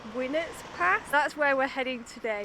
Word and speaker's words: Winnats Pass: places ever I think it's pronounced when it's past that's where we're heading